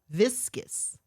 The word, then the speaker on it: viscous: Viscus. And it's spelled V I S C O U S.